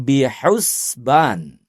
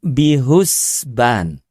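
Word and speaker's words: بِحُسْبَانٍ: Ada ayat yang berbunyi, "Asyamsu wal qamaru biusban." itu diucapkan dengan huruf ha bukan bihusban.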